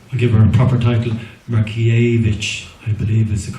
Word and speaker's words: Markievicz: countess Markievicz or give her a proper title rocky a I believe is the correct pronunciation but many more and the weapon deaths